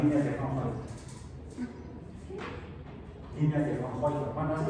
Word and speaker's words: Fraunhofer: Líneas de Fraunhofer. Bueno, esas se pronuncian en alemán. Fraunhofer o Fraunhofer en español. Se pronuncia Fraunhofer.